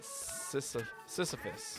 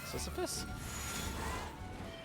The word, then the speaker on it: Sisyphus: Sisyphus. Sisyphus. Am I pronouncing that correctly?